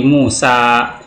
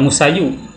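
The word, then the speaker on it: موسى: Seperti Musa, iya sebelumnya ada huruf hidup, maka seringkali ini dimatikan huruf iya-nya ini ya, sehingga dibacanya Musa, enggak Musayu. Al-Mustafa, tidak Al-Mustafayu.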